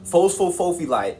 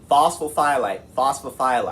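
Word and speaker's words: phosphophyllite: It's not phosphophophylite, alright, it's phosphophylite, alright? That's how you say it.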